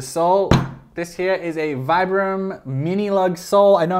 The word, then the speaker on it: Vibram: This here is a Vibram mini lug sole. I know I'm supposed to say Vibram. That's technically the correct pronunciation. I don't care. Everyone says Vibram.